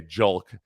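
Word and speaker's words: Julks: Yeah, that's Charlie would get indignant about some of the idiotic questions that baseball people would ask, like Hulk with a J, Julk.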